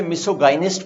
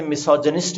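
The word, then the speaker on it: misogynist: कुछ लोग इसे मिसोगाइनिस्ट पढ़ते हैं, लेकिन आप इसे मिसोजनिस्ट इज the right pronunciation.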